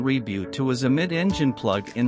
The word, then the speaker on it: Revuelto: thank you Lamborghini revuelto the Lamborghini revuelto Spanish pronunciation reboot was a mid-engine plug